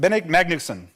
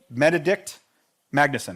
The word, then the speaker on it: Benedikt Magnusson: Bened How do you pronounce it? Benedikt Magnusson. Benedikt Magnusson.